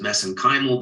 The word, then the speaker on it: mesenchymal: uh MSC stem cells which I pronounce as mesenchymal because that's how they pronounce it in Ireland I know there's other